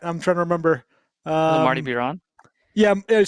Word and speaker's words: Biron: Marty Biron. Yeah, it said Marty Barone.